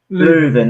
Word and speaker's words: Leuven: Is it Leuven? Leuven, that's it.